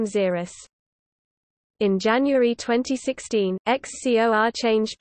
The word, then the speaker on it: Xerus: In 2003, XCOR proposed the Xerus (pronunciation: Xerus) suborbital spaceplane concept.